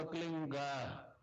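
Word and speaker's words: क्लीं: एक शब्द क्लीन शब्द, कै आधा लै में मिला हुआ, बड़ी की मात्रा और बिंदी, उसका उच्चारण होगा क्लीन गा। गा की ध्वनि निकलेगी पीछे।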